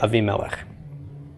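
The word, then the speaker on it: Avimelech: all over the place we would pronounce it a V a V Mela yeah Abby melech just like Avraham instead of Abraham aside from the vowel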